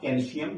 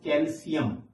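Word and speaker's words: calcium: हैं this is क्वेन this सजेन suggestion लोग pronounce करते हैं digestion a verb keep in mind here this is नॉट कैल्शियम this is कैल्शियम कैल्शियम this is potassium not potassium this is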